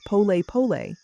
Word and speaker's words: polepole: The Swahili concept of polepole, pronounced polle pole, means slowly, slowly.